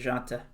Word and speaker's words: Dejounte: DeJounte Murray, is that how you pronounce his first Yep, name? DeJounte.